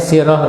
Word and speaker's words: sirah: Ini ditulisnya sirah ya, tapi dibacanya sirah ya. Ya, dibacanya sirah di dalam bahasa Arab.